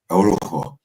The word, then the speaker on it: Orujo: The J is a H. Orujo.